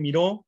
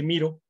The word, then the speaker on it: Miro: A veces le dicen Miro, pero recordemos que Miro lleva acento en la O y es francés. Esta es una herramienta de Estados Unidos y se dice Miro.